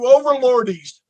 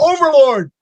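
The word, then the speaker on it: Overlorde: I said, "No, you know, we're just going to drop the E because everybody mispronounced it everywhere we went. Oh, you overlordies! The overlordies are here." We're like, "You pronounce the E. Oh boy. It's Overlord."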